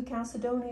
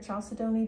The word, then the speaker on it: chalcedony: let's try that again blue calcidoni or chalcedony depending on how you say it is a really